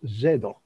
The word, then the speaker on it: Zadok: where zadok was born in hebrew which pronounced zedoc spelled z-z-a-d-o-k yes um